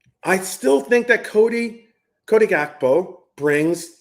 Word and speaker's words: Gakpo: But getting beyond that, I still think that Cody Gakpo brings, I say Hakpo because that's how you pronounce it in Dutch, but Cody Gakpo is still a phenomenal player on the left side.